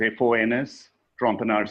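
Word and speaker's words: Fons Trompenaars: almost several tens of thousands people and then Fon Strampeners did a lot of work with Shell. There's a very famous and there's a YouTube um uh video of Fon it's pronounced as F O Ns Trumpars.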